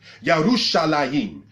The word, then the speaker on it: Yerushalayim: Because anything that's a dual plural in Hebrew has the ayim sound at the end of it. Yerushalayim, all right, translated as Jerusalem.